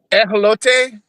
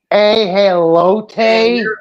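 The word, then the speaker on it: ajolote: Because she pronounces it correctly, which is like I'm gonna butcher this. Ejolote. But here in English we call it an axolotl because we don't know how to pronounce. Ejolote.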